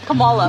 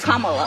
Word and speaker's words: Kamala: how to say her name earlier you said Cala way she pronounces her name is kamalo you don't work with her either see that